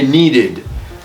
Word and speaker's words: needed: need needed okay needed separate syllable right doesn't it complicate